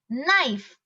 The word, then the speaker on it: knife: why we say knee knife not no okay so though k is present in those words while pronouncing those words in english k is silent okay so the common